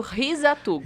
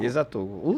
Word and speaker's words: Hisatugo: japonês sempre assim né e é risat tuugo risat tuugo o certo mesmo vamos colocar assim os